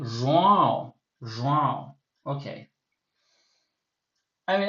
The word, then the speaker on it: João: I mean, I can't pronounce his name properly nasally every time when I'm speaking English. Okay. So João, João. It's harder than it seems. Like I know how it's supposed to sound, but anyway, Vivian finishes